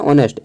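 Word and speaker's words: honest: pronounce काम में आएगा जैसे हम लोग बोलते हैं नेस्ट नेस्ट नहीं होता वो होता है ऑनेस्ट एच ओ एन ई एस टी ऑनेस्ट ठीक है अब यहां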